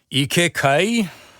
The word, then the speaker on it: Kai: Kai and Kai just like mi has an e sound at the end.